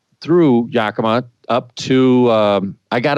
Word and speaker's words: Yakima: really last week last week how do you pronounce it yokima it's Yakima Yakima yep so you can tell I'm not